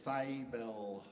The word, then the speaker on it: Seibel: my name is cybelle cybel but I can't pronounce my own family name actually properly because I grew up speaking in American English and that it's a German name so that's that okay